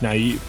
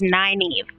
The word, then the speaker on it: Nynaeve: I can tell how you're supposed to pronounce it according to like the back of the book is Nynaeve.